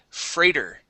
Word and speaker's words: freighter: And last word here is freighter. Fray. Okay, it's the AIGH makes a long A sound.